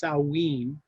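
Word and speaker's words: Samhain: that that was called i think it i think the pronunciation is salween and it was kind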